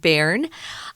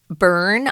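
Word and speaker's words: Bern: but we're going to a smaller place called bar um and you might hear some foreigners who speak English as a native language call it burn I've heard people say burn but most people especially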